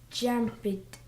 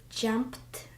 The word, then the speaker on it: jumped: So if preceding sound voiced, you need to pronounce ending ed like de, unvoiced like te.